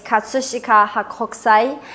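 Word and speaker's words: 葛飾北斎: So would you mind teaching us the correct pronunciation of the painting and artist? Yeah, the Japanese artist's name is Katsushika Hakokusai, and the painting's name is Kanagawa Okinami Ura.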